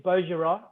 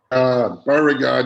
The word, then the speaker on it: Beauregard: 1 is Villes, 2 is the Savigny Peuillets, 3 is Beaugerard. Beauregard, you idiot.